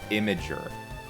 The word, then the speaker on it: Imgur: It's pronounced Imager.